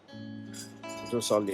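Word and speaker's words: Jorsalle: Josali is what this is how they pronounce.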